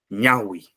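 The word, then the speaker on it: ñawi: Mira, son palabras graves, y una palabra grave tiene el mayor sonido en la penúltima sílaba. Guagua, guasi, ñaui, puca.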